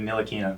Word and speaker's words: Ntilikina: I think the T is silent. It's like Ntilikina.